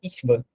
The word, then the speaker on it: Schwann: É estranho, mas a pronúncia é Ishvan.